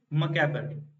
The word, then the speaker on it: macabre: अब इसका pronunciation cover से भी याद कर सकते हो, कुछ डरावना, fearful।